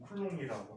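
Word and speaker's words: Coulomb: 쿨롱이라고 하는데 이 가장 뒤에 있는 비자음은 프랑스에서 다 묵음이야. 맨 글자 뒤에 있는 자음은 다 묵음이야. 그 다음에 여기 N이나 M이 끝에 있으면 얘는 음발음이나 얘 음이라는 발음 끼우거든. 음발음이나 그래서 풀롱이 맞아.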